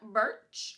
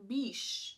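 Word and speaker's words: Bisch: call them is Quinton Burch. I think that's how you pronounce his name. Mr. Quinton, let me check. Let me check. Yes. So, Quinton Burch. No, it's like that's a lie. Quinton Bish.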